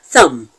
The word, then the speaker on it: thumb: another good example is the word thumb thumb t h u and B the b in Thum is silent so there is no